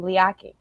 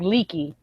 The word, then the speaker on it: Liaki: It's not spelled like leaky, and there's a T in there. Oh, I don't know how to yeah. Yeah. Samoans pronounce their T's, but his first name is Liaki.